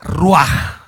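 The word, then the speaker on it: רוח: pero en hebreo es la ruaj la ruaj así se pronuncia raj y lo que une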